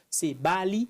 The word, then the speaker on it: Sabaali: Aujourd'hui, on reçoit le docteur Sebali. C'est comme ça qu'on prononce? Ouais, c'est Bali. Sebali, voilà. Ouais.